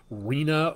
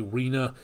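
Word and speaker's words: Rina: the rname storm or Reena or rhina depending how you pronounce that but I believe uh that again r i n a Reena so that following in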